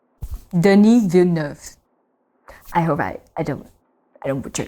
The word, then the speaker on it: Denis Villeneuve: And I cannot pronounce the director name, so I don't want to butcher it, but apparently this is how you pronounce it. Denis Villeneuve. Denis Villeneuve.